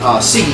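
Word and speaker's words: Sigui: what they call the Sigi ceremony. S-I-G-U-I. That's how they spell it.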